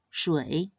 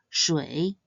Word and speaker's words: 水: It is read as 水. Its pinyin is spelled 诗微水 and should be pronounced in the third tone. 水, 水.